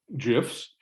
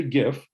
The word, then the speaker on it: GIF: you know i know i say gif but i said jiff because the guy just died and so i gave him jiff because he insisted was jeff even though it's a hard g in traffic yeah but anyway well